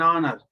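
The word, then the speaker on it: honour: This is एन ऑनर। Why have we used एन? आ का क्यों इस्तेमाल नहीं किया भाई? वाविल है, वाविल नहीं भाई, वाविल में अभी बताया आपको। एच साइलेंट है, एच साइलेंट है।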